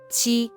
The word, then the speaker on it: 七: This word is the first tone, so it should be qi.